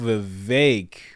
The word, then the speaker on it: Vivek: you wow let's go vake rhymes with cake that but you see